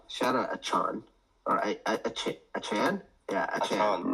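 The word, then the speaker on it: Achane: out aan or a achan yeah a that's what they say it's a Chan that's what it is anyways anyways um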